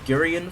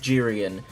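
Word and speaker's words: Geryon: Uh I've been pronouncing it as Girian for decades, but apparently it's pronounced Jiren.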